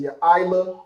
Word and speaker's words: Yaila: The sister in the chat name is Yaila, and that's right? Like the YA there, I, which is how we have it right now, and La. So Yaila.